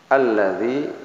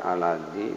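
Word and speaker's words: الَّذِي: Kemudian ya ini, ayat berikutnya alladzi ini ada tahzid bukan aladzi tapi alladzi. Saya ulangi, alladzi ya mad tabii.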